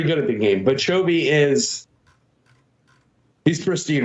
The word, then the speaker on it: Chovy: You've clarified the right way to pronounce his name, Chobi, correct? Not Chubi?